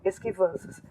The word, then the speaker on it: esquivanças: Aqui embaixo, ó, esquivanças. Qual é a tônica? O esquivanças é o van.